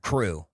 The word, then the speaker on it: Cru: CRU, crew. See, Crew.